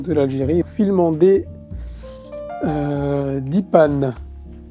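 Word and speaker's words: Dheepan: l'Algérie filmant des euh Dipan ou Dipan euh avec la prononciation tamoule film de jacodiar récompensé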